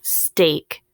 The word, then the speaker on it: steak: First word, steak. St, A, k. Oh, I hear long A, so then let's spell it. St, A, which is our EA pattern.